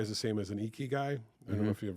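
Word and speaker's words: ikigai: And that's where if I can get everyone focused on a QPI is the same as an eeky guy.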